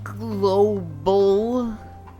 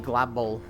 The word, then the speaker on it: Global: Hi, Global. I said it right. Cairo told me you don't like Glabol, even though that's so fun to say. So I'm putting effort into saying your name the other way.